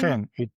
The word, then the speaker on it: Chen: Um Kane, how do you pronounce it exactly? Your name Ken. Yeah, it's easy. But French people also should